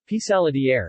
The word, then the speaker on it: Pissaladière: Pissaladière, French pronunciation, Pissalage, Nicard, Pissaladière, Pissaladière, or Pissaladina, Pissaladin,